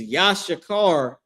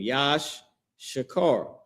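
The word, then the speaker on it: יששכר: The tribe of Issachar is Yashakar in the Hebrew. Here's the Hebrew spelling for their name. Yash Shakar, right?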